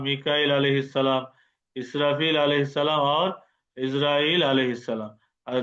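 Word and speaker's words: عزرائيل: জিব্রাইল জিমে জেড দিয়ে শুরু, মিকাইল মিমে জেড দিয়ে শুরু, ইসরাফিল আলিফে জেড দিয়ে শুরু, ইসরাইল আইনেও জের হবে, কিন্তু আমরা বাংলা বলি আজরাইল। আজরাইল উচ্চারণটা ভুল হবে ইসরাইল, যেহেতু এখানে এই এটা অনারবি শব্দ, প্রত্যেক ফেরেশতার নাম জেড দিয়ে শুরু হয়।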